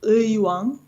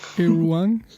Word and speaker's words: Uiwang: It is Uiwang. You can pronounce it. Uiwang. Irwang.